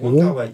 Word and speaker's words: Wong Kar-wai: J'ai jamais réussi à se prononcer ce nom. C'est exactement comme ça. Je c'est comme ça, ça se dit? Ouais. Wong Kar-wai.